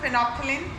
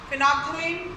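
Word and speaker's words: phenolphthalein: इसको आपको स्पेलिंग याद करनी है, फिनॉल। फिनॉल होता है, इसमें एल साइलेंट रहेगा। फिनोप्थिलीन, ठीक है। फिनॉप, यहाँ पे ये जो है फिनोप्थिलीन, ये जो फर्थलीन, फिनॉल, आप इसको कैसे पढ़ेंगे? फिनॉल। ये अगर पढ़ने में आता है तो ऐसे आएगा, फिनोप्थिलीन, ठीक है। तो यहाँ पर ये 3 चीज़ें साइलेंट हो जाएंगी। एल को हम प्रोनाउंस नहीं करेंगे, फिनोप्थिलीन।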